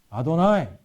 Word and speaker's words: 아도나이: 근데 이 자음 네 글자가 이게 딱 나오면 유대인들은 어떻게 발음한다고요? 아도나이.